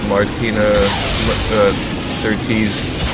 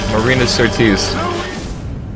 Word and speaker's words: Marina Sirtis: Martina Sirtis. I mean, you know who am I talking about. I apologize for pronouncing the name wrong. Marina Sirtis.